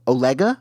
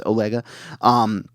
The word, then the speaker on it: Olega: So Osha knew Torben because when they mentioned that they were going to go to Olega, I believe. I think I pronounced it Oleg earlier. It's Olega.